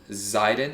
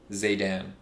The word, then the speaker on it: Zaydan: of my name for everyone who's listening, the traditional pronunciation, Lebanese pronunciation, is Zaydan. But the way it's Oh. spelt, people read it Zydin.